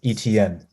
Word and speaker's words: Etienne: But I also went with Travis Etienne. That's how you pronounce his name. Etienne.